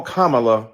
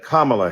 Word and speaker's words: Kamala: you call Melania Melania do you call evanka Ivanka then call Kamala Kamala then call vice president Harris vice president kamla Harris soon we pray in